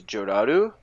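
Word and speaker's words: Jellal: and tell you that Jalal's name is Gerard, because in Japanese, when they pronounce Jalal, it comes off as Joraru, because L's are slurred to sound like R's.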